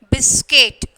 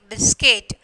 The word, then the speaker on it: biscuit: So, you are when you are pronouncing, the U is silent. Okay, biscuit, biscuit, and then guest, and then disguise.